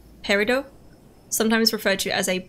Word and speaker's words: Peridot: made from is it the tea is not pronounced Peridot sometimes referred to as